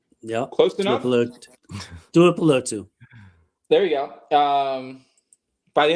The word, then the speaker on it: Tuipulotu: year, they rotated Owe and Mac and Tuli Tuipulotu. Yeah, Close enough. Tuipulotu. There you go. By the end of the night, I will pronounce these Hawaiian and Samoan and Pacific Island names correct.